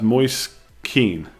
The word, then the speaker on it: Moise Kean: It's pronounced Moise Keane.